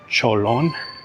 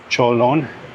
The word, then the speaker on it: Chợ Lớn: I wonder where it got that name from because to me it sounds a little bit like Spanish. Like I would hear that name in a Spanish-sp speakaking country, Cholon.